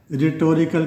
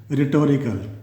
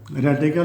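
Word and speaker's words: rhetorical: तो रिटोरिकल इसका क्या है, जो फर्स्ट क्वेश्चन डेफिनेशन है रिटोरिकल क्वेश्चंस। इसके जो प्रोनाउंस कैसे करना है, रिटोरिकल, रेटिकल नहीं पढ़ना बल्कि रिटोरिकल क्वेश्चन पढ़ना है।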